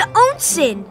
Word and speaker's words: onsen: They're snow monkeys, and they love being in the warm water of an onsen as much as people do.